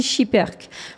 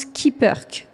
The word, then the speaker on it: Schipperke: bonjour Valérie bonjour alors est-ce qu'on dit chiper qu'est-ce que c'est la bonne façon de dire alors à la fin c'est effectivement on dit chipeurk le nombre d'origine qui est belge se prononce skipperke qui veut dire en traduction latérale petit batelier qui est donc à